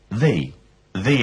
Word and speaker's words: the: say an an ashtray before a consonant we say the the book before a vowel we say the V ashtray pronounce these words please